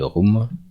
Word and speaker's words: room: de notre tableau de room. C'est difficile à prononcer, c'est room comme vroom, ok.